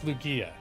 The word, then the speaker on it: Lugia: Barbara's saying Lugia, or Lugia. Oh, okay. Lugia. Okay. But wait. Is that Lugia? G like gaming, Kink says. If I'm to trust Kink, it's Lugia.